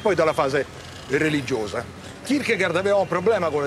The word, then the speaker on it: Kierkegaard: Ragazzi, avete letto sul manuale le note su Kierkegaard, che poi si dovrebbe pronunciare Kierkegaard, ma vi risparmio, l'avete lette?